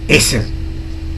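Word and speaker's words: עזר: Hay una palabra especial que se pronuncia, que significa idóneo. Y la palabra es eser.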